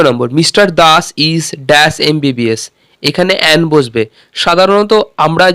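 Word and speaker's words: MBBS: দ্বিতীয় নম্বর, mister Das is dash এমবিবিএস। এখানে অ্যান বসবে। সাধারণত আমরা জানি এ ই আই ও ইউর আগে অ্যান বসে, কিন্তু এখানে এমটা এন উচ্চারণ হবে, তাই জন্য অ্যান বসবে।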